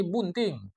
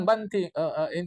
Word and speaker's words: bunting: Tak ada, ini bunting. Bukan banting, bukan banting.